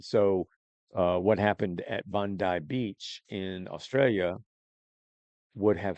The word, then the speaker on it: Bondi: you this video of the B it's it's pronounced Bondai Beach in Australia heavily Jewish it was a